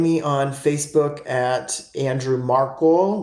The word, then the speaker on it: Markle: on Facebook at Andrew marle like m a r KL e rhymes with sparkle um or original marle